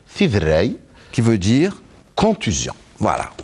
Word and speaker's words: Tiderray: Eh ben voilà, vous l'avez très bien prononcé. Fidrei.